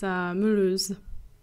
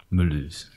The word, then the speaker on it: Mulhouse: It's called, I actually don't know what it's supposed to be pronounced in English, but in French it's Mulhouse. Mulhouse.